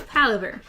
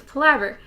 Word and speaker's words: Palaver: We went over like the actual pronunciation because I originally thought it was Palaver. Yeah. And it's Palaver.